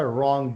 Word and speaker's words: wrong: अच्छा, wrong, WRONG, wrong. उसमें र sound आता है, Wrong. उसमें वा साउंड उसमें नहीं आता है. The word is starting with w, but w is silent.